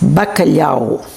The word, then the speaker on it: bacalhau: how do you save um cfish in Portuguese bakalo how do you say codfish in Italian bakala